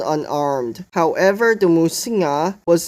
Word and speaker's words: 魔神仔: dehydration and hunger instead the name musina derives from its Taiwanese pronunciation according to folklores musina